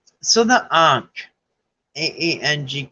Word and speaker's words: ankh: and grabbed it all right so the ark Ang it's pronounced but it's spelled a-n-kh the ark is